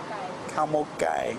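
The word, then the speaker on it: ข้าวหมกไก่: Cow mok gai is how they say it in Thai.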